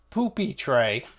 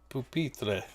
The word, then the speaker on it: pupitre: And of course I have my pupitre, not poopy tray. It's not poopy tray, okay? It's pupitre.